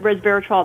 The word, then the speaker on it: resveratrol: It is a bit of a mouthful, but resveratrol, that's correct how you say it.